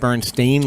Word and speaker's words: Berenstain: now spell with or is spelled with an AI right Bernstein like a stain on your shirt yes and what everybody